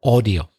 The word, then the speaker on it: audio: the pronunciation of audio it's a typical Spanish mistake to say ow but it's not it's all audio and then I asked